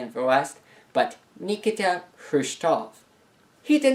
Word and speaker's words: Khrushchev: to bury the capitalist states it's not nikita krishna as is often said in the west but nikita khrushchev he did not cook food aboard the boat